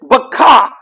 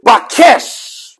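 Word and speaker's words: bawkash: a s h it's Baka some sometimes it's pronounced as bakesh bakesh depending on the phonetic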